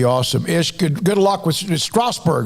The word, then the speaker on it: Strasbourg: Ish, good luck with Strasbourg, right? Is that how you say it? Yes, sir.